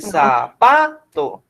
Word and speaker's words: zapato: Usted no dice ni zapato ni zapato. Usted dice zapato, ¿cierto? Entonces, el acento está aquí.